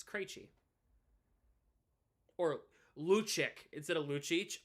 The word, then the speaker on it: Krejci: I'm like, oh, it irks me when people say the name wrong or say the name of the way I don't the way I don't say it. You know, Krejci. Oh, Krejci. Or Krejci. Yay. It's Krejci.